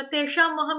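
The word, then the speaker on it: तेषामहम्: और तेषा महम में जो श आ रहा है ना आपका, वो शलगम वाला आ रहा है, उसका भी उच्चारण की तरफ ध्यान देना। श श, जीभ फोल्ड हो जाएगी, श ज्यादा तालू को टच करेगी, श।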